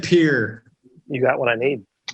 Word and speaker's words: Pierre: the rapper who said pierre you got what i mean yeah someone here somebody said it there's no peers in north or south dakota pierre pierre they they pronounce it pier they pronounce it here